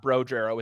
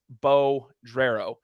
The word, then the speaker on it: Bodrero: Gamino Jack uh bodrero I I said his name wrong last week it's not bro jarrow it's Bo gerrero those guys you're gonna